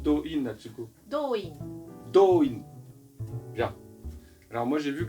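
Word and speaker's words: Do-in: Et comment on prononce Doin, Atsuko? う。ドイン。 Doin.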